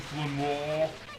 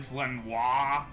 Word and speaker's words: Flanoir: So that will be in the next episode when we go to well, it's apparently legal pronounce it Flanor. It's actually Flanoir, even it's French speaking. Noir is French for black.